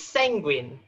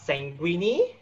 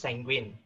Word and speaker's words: sanguine: It's of old French origin, so it's pronounced sanguine.